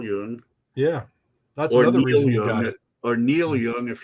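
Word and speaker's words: Jung: you spell that again j-u-n-g like Carl Yoon yeah or Neil Young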